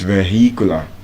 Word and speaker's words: vehicular: But the irony of it is that while the H is silent in vehicle in vehicular the H is not silent. It's vehicular but vehicle.